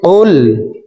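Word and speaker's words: قُلْ: কফ লাম পেশ কুল। কফের মাখরাজ জিহ্বার গোড়া তার বরাবর উপরের তালুর সঙ্গে লাগাইয়া উচ্চারণ করে পড়তে হবে।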